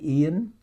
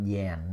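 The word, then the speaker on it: Yến: birds you know like Ian Ian is common too Ian y n okay so not Yan no Ian Ian is the name of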